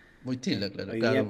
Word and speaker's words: Wojtyła: Quise hacer una corrección, pronuncié mal el apellido, era Wojtyła. Wojtyla, claro, Hoy claro, día me Wojtyla.